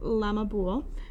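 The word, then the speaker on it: La Mas Ubhal: and apples on Halloween it was called la masabal the day of apple fruit this word pronounce lamabool was corrupted by English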